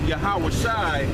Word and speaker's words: Yahawashi: So Joshua in English, but Yahawashi in Hebrew. So he did get the right name. No, he got the right name, but the Yeshua is the wrong pronunciation.